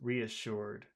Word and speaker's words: reassured: Let's start with the word reassured. How many syllables are in that sentence? Reassured. Mm-hmm. 3. Reassured. Three. You're right. Now, the tricky part here is where is the accent? Reassured. Re, word. Third one.